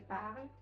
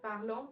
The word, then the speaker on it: parle: So it's je parle, tu parles, il, elle parle, nous parlons, vous parlez, again il, elle parle. Not parlons, not parlant, not any other XYZ pronunciation.